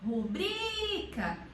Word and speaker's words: rubrica: A sílaba tônica dela é rubrica, então é o bri, que é uma paroxítona. E paroxítonas que terminam em A não são acentuadas. Então, a sílaba tônica é o bri.